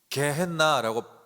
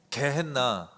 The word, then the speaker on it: 게헨나: 이 지옥불이라는 단어는 헬라 단어로 보면 어떻게 발음하냐면 여러분 게헨나라고 발음해요. 뭐라고요? 게헨나.